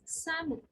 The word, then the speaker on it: salmon: is e l so l is silent in this word and it is like seven seven l is silence it's salmon and similarly almond almond